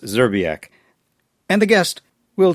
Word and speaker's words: Szczerbiak: the guest, it's pronounced Zerbiac. And the guest will zerak says to ignore the first few consonants.